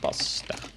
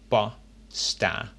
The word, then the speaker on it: pasta: De pasta. As you can notice in the word pasta, I pronounce the first A quite shortly, a, and the last A quite long, pasta.